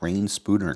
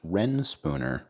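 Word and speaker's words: Reyn Spooner: I always thought it was rain spooner cuz it's spelled R E Y N, but it's actually pronounced Ren Spooner.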